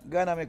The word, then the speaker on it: Gáname: Y la licenciada Alejandra Gáname, con acento en la primera A, de la escuela 37.